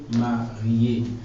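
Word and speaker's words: mariée: If you're a woman, you add another E. But it doesn't affect the pronunciation. So it doesn't affect the pronunciation and it's still marié.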